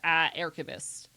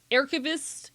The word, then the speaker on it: aerchivist: Ah, what if we started saying ah instead of ae?